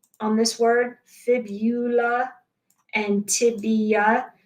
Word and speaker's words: fibula: Look at the spelling on this word, fibula and tibia. Please don't pronounce this fibia. It is fibula and tibia.